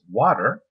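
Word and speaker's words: Watir: spelled as w a t r um is pronounced as water um I now um now it's basically uh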